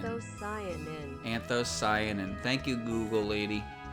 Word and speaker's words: anthocyanin: Anthocyanin. Anthocyanin. Anthocyanin.